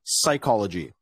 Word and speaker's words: psychology: let's let's continue uh PS at the beginning of the word is pronounced just as s so for example we never say psychology we always say psychology same with this word